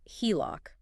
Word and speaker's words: HELOC: for home equity line of credit and it's pronounced HELOC for those playing along at home think of